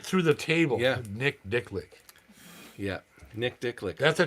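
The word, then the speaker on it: Dichlich: Dicklick." Nick Dicklick. And Dave fell through a glass coffee table laughing. Yeah. Oh, yeah. He went through the table. Yeah. Nick Dicklick.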